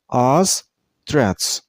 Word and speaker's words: ostrich: This name has 2 syllables. And while you pronounce the name, you should stress on the first syllable. I mean on os, not os. Your mouth shouldn't make a round shape. I mean not os. It's Ostrich. And now look at the second syllable. There's no T at the end of the word. But while you pronounce the second syllable, you should make a T sound at the end. Ostrich.